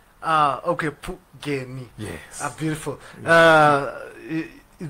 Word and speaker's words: Phungeni: So just to make it easy, it's Phungeni. Okay, Phungeni.